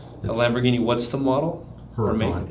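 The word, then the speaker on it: Huracán: Huracan, H-U-R-C-A-N. H-U-R. Yeah, C-A-N. Huracan. That's how we pronounce it. It's actually H-U-R-A. You pronounce it A.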